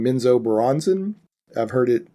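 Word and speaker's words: Menzoberranzan: Their main city is, and I'm always going to say it wrong, Minzo Baranzan. I've heard it pronounced differently, but that's it.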